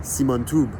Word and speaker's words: Siman Tov: And yes, back in the day, Siman Tov was properly pronounced Siman Tub.